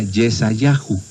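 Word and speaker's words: ישעיהו: Nosotros lo pronunciamos así, pero en hebreo se diría Yesayahu, que quiere decir Dios es salvación.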